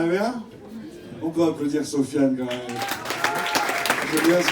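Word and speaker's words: Sofyan: Donc, je m'appelle Sofiane. Sur les réseaux, c'est Sofiane. C'est hyper original. Sofiane, ça s'écrit S-O-F-Y-A-N.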